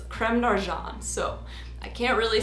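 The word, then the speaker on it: Crème d'Argent: really big like this technically the french pronunciation of creme de argent is creme narjan so i can't really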